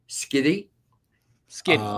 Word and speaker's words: Schiti: So the first one up is Captain America #1, 125 ratio by Valerio Schiti. Skitty, yeah, that's it.